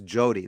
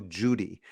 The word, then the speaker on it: Jody: that Israelis can't pronounce Jody they always go Judy they just don't have the o sound it's not something they're